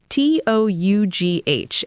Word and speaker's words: tough: So, the actual pronunciation is tough, just like the word stuff or rough.